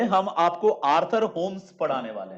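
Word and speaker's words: Holmes: देखो याद है हमने आपको कन्वेक्शनल होम्स होता है, आर्थर होम्स, एल साइलेंट होता है।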